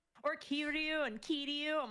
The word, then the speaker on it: Kiryu: So I just like, or Kiryu and Kiryu. I'm like, no, it's Kiryu.